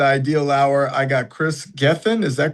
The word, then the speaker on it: Gethin: On this episode of The Ideal Hour, I got Kris Gethin. Is that correct? How did I pronounce it? You got it. Gethin.